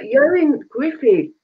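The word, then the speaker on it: Ioan Gruffudd: Yoin Griffey.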